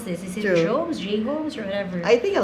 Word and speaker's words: J Homes: Sometimes they would pronounce it as Jones. Actually, it's J Homes.